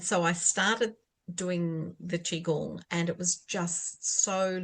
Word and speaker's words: Qigong: Is it Qi Gong?